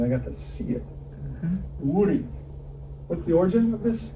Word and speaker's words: Iwuri: Well, I'm just asking, because I would say it Iwuri, Yep. but I don't know if that's correct or not. Yeah, that's correct.